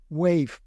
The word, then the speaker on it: Wayve: Hablando de conducción autónoma, con estos nuevos Wave que por cierto se escribe no como Wave Onda en inglés, sino como Wave con una Y en medio, o sea, WAYVE.